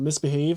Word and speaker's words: MISBHV: can see the misbhv it's a brand called misbehave and that's how you it's spelled misbhv but you could Google